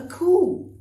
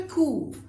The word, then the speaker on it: coup: A coup. My gosh, what a coup. Which means, you don't say coup, please. Coup means what a masterstroke. Fantastic thing. All right, what a coup.